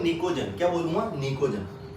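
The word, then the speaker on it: pnictogen: क्या बोलूंगा, निकोजन, है ना बेटा। ये पी साइलेंट है, क्या होगा बेटा, ये निकोजन।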